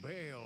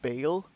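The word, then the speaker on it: Baal: It's interesting the way that it's spelled. I didn't expect the name to be pronounced Bale. Uh I would have thought Bal or something like that, but um yeah, it's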